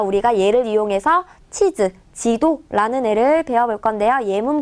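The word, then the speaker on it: 地図: 치즈, 치라고 읽는 게 중요해요. 자, 땅지자라고 했죠.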